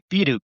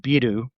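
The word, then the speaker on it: ビール: So not to be confused with bill, because they don't. If you said biru, or which is their way of making that pronunciation, they won't. They'll think you're saying you want a beer or something.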